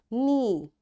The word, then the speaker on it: knee: knock, knot, knit, knob, knee and knuckle and knowledge. You see in all these words because K is there and right after K there is N. That's why this K is silent.